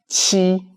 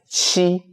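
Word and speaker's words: 七: And for number seven, we read it as she. So Qi, so in most languages, letter Q is pronounced as C. But in Chinese, we read it as she.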